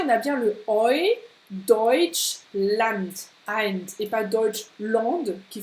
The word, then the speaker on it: Deutschland: U und EU spricht man auf Deutsch Oi. Oi. Ja, kannst du das auch sprechen? Oi. Oi. Wie hier in Deutschland. Deutschland. Und nicht Deutschland. Ja, d'accord? Deutschland, nein, das kannst du vergessen.